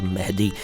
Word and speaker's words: मेहदी: है पहले इसका उच्चारण कई लोग इसको मेहंदी कहते हैं एक पाकिस्तानी सिंगर गजल सिंगर थे मेहंदी हसन कहते थे लोग उनको वह मेहंदी नहीं है मेहदी हसन नाम था उनका मेहदी उर्दू में